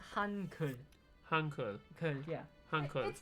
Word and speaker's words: Hangul: It's more like a relaxed U. Okay. It's Hankul.